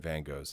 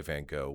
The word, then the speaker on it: Van Gogh: vargo so it's like in in america you should say van gogh but it's the announcement which i say yeah and then you get the the brits who say vangog and i'm just like whoa guys thank god yeah even i know that's wrong you know at least when we say vanco we're at least following the rules of english so but yeah hey